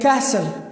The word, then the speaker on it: castle: these this pattern comes stle is like castle castle so s t l e then t is silent here and the other